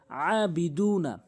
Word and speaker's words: أعبد: তারপরে যেই ভুলটি করে সেটি হচ্ছে আবুদ বলে, আবুদ বলে। বলতে হবে আবুদ, আবুদ। আইনের উচ্চারণ আনতে হবে। অনেকেই আইনের উচ্চারণ আনেই না। আইনের উচ্চারণ হচ্ছে হলকের মাঝখানে আবুদ, আবুদ।